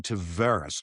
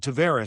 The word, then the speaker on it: Tavares: I went to him and asked him, and he said Tavares. Somehow he gets to Toronto, and the family's still split on it. He went to Tavares. The Islander guys will tell you, no matter what he says in Toronto, it's Tavares. So I will go back and forth on that one, and sometimes I'll kick myself in game and I'll go with Tavares because that's what it is to me, because he told me that.